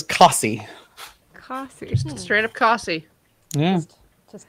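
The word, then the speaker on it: Costessey: to watch that again no custy no that doesn't sound right either coffee how how about cussy i like kosty costco um y'all dancing around a little bit this is cossy straight up coffee yeah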